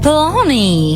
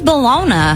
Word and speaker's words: bologna: 100 lb of baloney do you call it balona or baloney baloney I do who says balona it's spelled with an a nobody ever says that some say bologna no